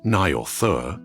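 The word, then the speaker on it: Njord: Nielder, pronounced roughly as Naur, is one of the foremost deities of the Vania tribe.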